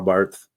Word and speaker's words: Barth: There's a Karl Barth Center. And my Anglican professor is an expert on Barth. I think it's pronounced Bart.